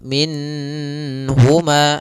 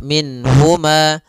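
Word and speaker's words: منهما: Nun di sini harus jelas karena bertemu dengan huruf ha. Maka tidak boleh ditahan. Misalnya ditambah dengan gunah minhuma. Ah, ini enggak boleh. Atau ditahan suaranya minhuma. Enggak boleh juga. Maka langsung saja minhuma. Dan dia tidak boleh mantulnya, tidak boleh minahuma.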